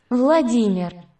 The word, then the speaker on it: Владимир: Володимир. All right, that's how you say it in Ukrainian. Владимир. And that's how you say his name in Russian.